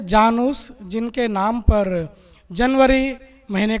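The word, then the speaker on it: Janus: उसमें एक कथा है जिसके मुताबिक थे जैंस एक देवता था हिंदी में शायद उनको जान उस बोल सकते हैं जिसका स्पेलिंग है जे एन यू एस तक देवता थे जानूस जिनके नाम पर जनवरी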